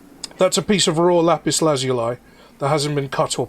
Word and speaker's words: lapis lazuli: I do have a little piece of lapis lazuli that's on the bookshelf behind me as well. Oh, I've been pronouncing that I have wrong. pyrite. What? Because I pronounced it Lapalazula.